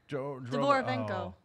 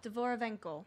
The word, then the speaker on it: Dvorovenko: Dvorovenko. Say it again? Dvorovenko.